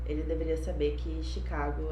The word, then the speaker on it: Chicago: kibon no inglês mas sabemos que o ch é pronunciado como chené mas no nome chicago é uma tal plano de origem francesa e é por isso que é pronunciado chicago como se fosse o sh então é um erro